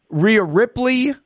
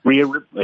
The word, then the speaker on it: Rhea Ripley: And then Rhea Ripley, is that her name? Yeah. Rhea Ripley.